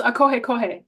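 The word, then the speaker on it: ʻĀkohekohe: name yeah oh wine bird oh so that's pronounced AOH Co it's a crested honey creeper it's named after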